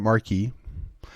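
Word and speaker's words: marque: Nations declare war Grant letters of Mark and reprisal some would pronounce it Marquis and to make rules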